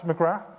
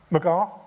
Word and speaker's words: McGrath: Uh, next is McGrath. McGarth, sorry. We just discussed my name being mispronounced. The Irish pronunciation, so no th at the end.